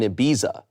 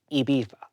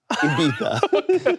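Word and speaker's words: Ibiza: cation with his brother-in-law, a 35-year-old man, in Abiza. How do I handle this? Okay. Wait, pronounce it. Well, first of all, pronounce it properly. Iba. Iba.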